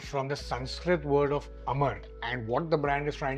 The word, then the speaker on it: Amara: Now if you look at this, this name is derived from the Sanskrit word of Amar and what the brand is trying to create is immortality. But it's your pronunciation which means it comes with a double A with a stress on Amara.